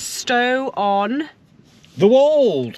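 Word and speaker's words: Stow-on-the-Wold: So next stop, guys, is Stow on... The Wold. I think it's pronounced Stow on the Wold.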